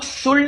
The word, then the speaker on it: should: सबसे पहले शुड की आपको स्पेलिंग देखना है कि शुड की स्पेलिंग क्या है? एस एच ओ यू एल डी ये इसको कुछ लोग शुड बोलते हैं।